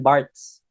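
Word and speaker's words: Barthes: isinulat ito ni Roland barts na Bart daw ang tamang pagbigkas alin sunod sa kanyang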